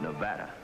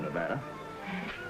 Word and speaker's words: Nevada: By the way, that's pronounced Nevada. I notice you give it the broad ah.